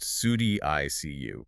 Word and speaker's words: SuDDICU: Sud ICU, pronounced Sudi ICU.